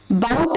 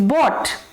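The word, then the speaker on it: bought: बाउट नहीं होता है, इट्स बॉट।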